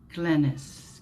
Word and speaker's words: Glennis: Sorry, it's pronounced Glennis. Glenn is pronounced Glenn.